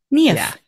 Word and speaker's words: Niamh: that a lot yeah think of your knee and say if KN if yeah KN if yeah I I was